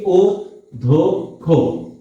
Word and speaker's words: অধ্যক্ষ: কেন ধ টা উদ্ধক্ষ অধ্যক্ষ আচ্ছা অধ্যক্ষ সাধারণত এই ধরনের শব্দ থাকলে আগে একটা ও হয় তারপরে দ হয় তারপরে এই ধ এর আবার উচ্চারণ হয় এইজন্য হইছে কি ও ধো খো ও ধো খো এরপরে